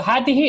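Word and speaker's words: هذه: Same with Hadihi. So Hadihi is written like this, but actual pronunciation is Hadihi. It's like there's an alif after the ha.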